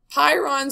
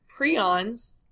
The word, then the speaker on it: prions: Pyrons or piron, or I always have trouble saying this one. It's pronounced two different ways. Prions or pyrons.